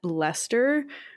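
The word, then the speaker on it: Leicester: a baker shop in leester which I always laugh at how Lester is pronounced because it's not written the way that it's pronounced I've see you've written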